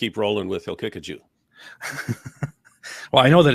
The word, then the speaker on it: Haqiqatjou: Haqiqatjou has. Haqiqatjou. It's Haqiqatjou, or he'll kick a Jew. Those are the correct pronunciations.